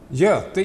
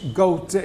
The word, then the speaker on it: Göte: Göte in Swedish, Göte if you take the dots away.